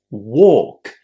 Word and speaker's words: walk: Walk and talk have a silent L.